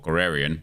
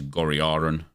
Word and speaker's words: Goriaran: What, Gorarian? No, because that's not his name. It's Goriaran. But Gorarian just rolls more natural.